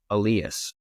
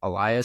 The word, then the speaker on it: Elias: Elias Pattersons although py the forward he's Alias this one is Elias so the way you pronounce their names are slightly different so that is dpd